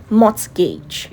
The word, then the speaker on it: mortgage: This is mortgage. Mortgage. The T in this word is silent, so you don't say mortgage, it's mortgage. Okay?